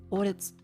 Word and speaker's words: Audi: Audi.